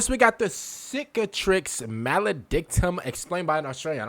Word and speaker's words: Cicatrix Maledictum: Everything sucks, and everyone is screwed, thanks to a cheeky little thing called the Cicatrix Maledicta. Cicatrix Maledictum.